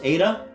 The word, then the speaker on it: Ada: Ada? She pronounced it the Russian way with 2 deep, dark A's, making it sound rather like ardor.